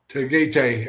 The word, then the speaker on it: Tagaytay: I'm not going to try to pronounce that word. Tagaytay, or however you pronounce it, Tagaytay.